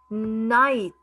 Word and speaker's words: knight: Wreck, wreath, night. See, the letter K is silent.